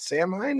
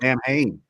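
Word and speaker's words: Samhain: Sam, how do you say it? Sam Hine? Is that the name of it? Sam Hain. Sam Hain. Okay, there you go.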